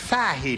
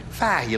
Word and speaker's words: Fahey: pat fahey i'm i forgot that this is an irish name it's pronounced fahey not like i said you're an irishman right pat right fahey let's all say together